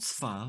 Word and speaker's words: סְפָר: The word sfár, סְפָר, for example, is a single-syllable word. It is composed of the consonants ‘samech’, ‘pe’ and ‘resh’ and one vowel, ‘a’.